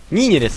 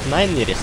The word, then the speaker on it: Нинерис: Укорял за то, что я его называл Найнерис. Ой-ой-ой. Ну все. Благодаря этим действиям я навсегда запомню, как правильно читается его ник.